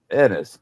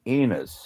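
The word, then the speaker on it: Ennis: in in Montana was called Enis. E N I S. And my mom kept calling it Enus.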